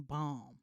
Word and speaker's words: balm: I don't smoke, but I went there to get some balm. I'm sorry. Balm. Can you spell that?